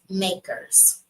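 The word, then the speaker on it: MACRS: accelerated cost recovery system it's commonly referred to by its initials M A RS and pronounced makers the general rule of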